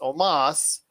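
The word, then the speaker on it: Omos: next was aj styles and omas even though it's spelled almost it's omas defeated kofi kingston and xavier woods to win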